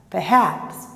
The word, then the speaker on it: perhaps: uma dificuldade muito grande, porque quer colocar na sílaba uma força que a sílaba não tem. O schwa é fraco, tá? Então, ó, forget, forget, perhaps, perhaps. Deixa o forte lá para o final e ele é bem devagar.